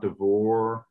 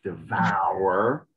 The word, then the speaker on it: devour: her to devour so when there's two syllables remember it's almost always more open so it's not not divor it's devour and then the two o's also